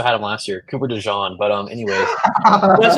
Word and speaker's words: DeJean: I think Terrion Arnold and Cooper DeJean. Then they signed C.J. Gardner-Johnson in the offseason, who will be a good mentor. What? They also had him last year, Cooper DeJean.